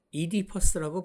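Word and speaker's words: Oedipus: 오이디푸스는 영어로 이디퍼스라고 발음합니다.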